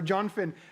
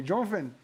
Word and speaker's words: Jonathan: Or Jonfin. Lisa, I love it. So Lisa wrote Jonfin, which is how Alex pronounces Jonathan's name throughout the movie. Jonfin. Again, it's a delightful film, people.